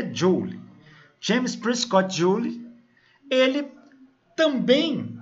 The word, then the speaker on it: Joule: cena James prescott Joule a gente costuma pronunciar Jauli mas o nome dele é dyuly James prescott Joule ele